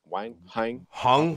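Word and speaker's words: Huang: So just because we don't have the Andrew Wang numbers, or how do you say his last name? Hung. Well, I think it'd be Hung. Yeah, Hung.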